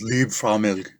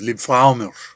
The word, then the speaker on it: Liebfraumilch: I know it's not pronounced Liebfraumilch, it's Liebfraumilch, but you know, it's a commercial for an American audience.